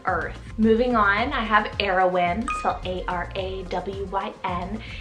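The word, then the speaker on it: Arawyn: of heaven and earth moving on i have heroin cell a-r-a-w-y-n heroin and this one's also a mash-up name meaning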